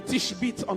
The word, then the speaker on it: Tishbite: Vous savez comment on dit le tishbit en anglais?